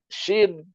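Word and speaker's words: ش: Kalau sudah ada titiknya tidak sin lagi, shin.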